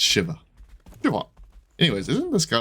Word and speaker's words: Shiva: certain way right and his name is Shiva to be clear it's not Shiva it's Shiva anyways isn't this guy